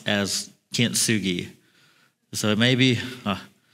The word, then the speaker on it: kintsugi: across this Japanese pottery that I'm going to pronounce as Kint Sugi so it may be k n t s